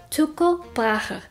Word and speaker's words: Tycho Brahe: Yes, that is how you pronounce his name, Tycho Brahe. It's Danish.